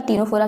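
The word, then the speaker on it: Ctenophora: हमको पता है कि टीनोफोरा की स्पेलिंग जो है सी से शुरू होती है लेकिन ये निमोनिक है।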